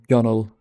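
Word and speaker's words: gunwale: I'll never forgive the person who decided gun whale should be pronounced gunnel.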